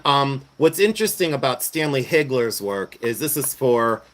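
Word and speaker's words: Hagler: No, it's Hegler.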